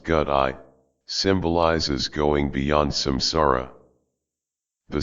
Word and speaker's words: gate: The first gate pronounced gut eye symbolizes going beyond samsara.